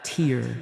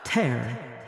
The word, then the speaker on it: tear: Same spelling, different pronunciation. The first rhymes with fear. The second rhymes with scare.